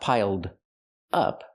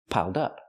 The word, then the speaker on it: piled up: Link the sounds, piled up. Pronounce it like one word, not piled up, but piled up. Connect the d with the next word, dup, piled up. Pronounce it like one word. It's easier that way.